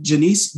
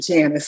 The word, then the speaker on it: Janiece: will dr the uh janiece beale good afternoon everyone now the nun called me when i was in trouble so pronounce it janice so let's let's start